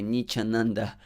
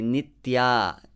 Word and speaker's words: nitya: son of the fallen niechananda so don't say nichananda say nitya this syllable is important you need to practice it